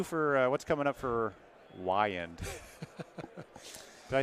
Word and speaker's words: Wiand: What's new for, what's coming up for Wiand?